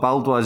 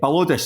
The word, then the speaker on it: Balodis: I haven't even pronounced that correctly. It's not Baldois, is it?